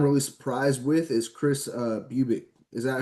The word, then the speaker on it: Bubic: But a guy I'm really surprised with is Chris Bubic. Is that how you pronounce his name? Bubich, yeah, Chris Bubich.